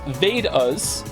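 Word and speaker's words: Vedas: thank you Emperor chinoo the vadas pronounced vas and upanishads your pronunciation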